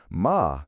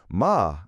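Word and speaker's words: หมา: "Ma," she would say, pointing to a dog. "Ma," I would repeat, and she would collapse into laughter because I had used the wrong tone and said horse.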